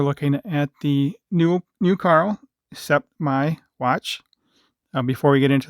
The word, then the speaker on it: Sept Mai: I pronounce it Sept Mai 41 millimeter watch.